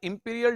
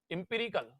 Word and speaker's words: empirical: हम बोलते हैं क्या, इंपीरियल डेफिनेशन। तो यहां पर आप लिखो इंपीरियल, इंपीरिकल, स्पेलिंग है इसकी EMPIRICAL, इसे बोलते हैं इंपीरिकल डेफिनेशन ऑफ प्रोबेबिलिटी।